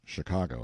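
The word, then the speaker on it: Chingachgook: his acute Indian experts shinuk pronounced Chicago I think has lost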